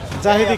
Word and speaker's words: জাহিদি: জাহিদি লেখা নাই, কিন্তু জিহাদি। জিহাদি না, উচ্চারণ হবে জাহিদি। জিহাদি না, জাহিদি হবে।